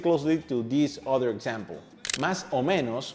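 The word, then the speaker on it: más o menos: Mas omeos more or less would sound more like momeo.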